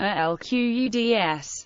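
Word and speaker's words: القدس: Jerusalem, Arabic, Al-Quds, pronounced Al-Quds, located on a plateau in the Judean mountains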